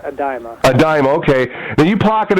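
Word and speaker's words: Idema: Now, that was a tourney won by fellow Canadian Daniel, is it Edema? Yeah. I think he pronounces it Adima.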